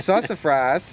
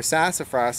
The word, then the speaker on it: sassafras: One of the nice things about sassafras, or sassafras as the Americans say, this is Sassafras albidum.